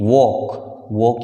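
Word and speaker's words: walk: वे चलते हैं, वे, दे के साथ फर्स्ट फॉर्म दे वॉक यानी चलना, एल साइलेंट है इसमें, दे वॉक, वे चलते हैं।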